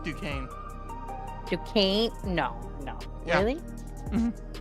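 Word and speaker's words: Duquesne: So, the the most common I hear mostly from people from New Jersey is uh Dquznney.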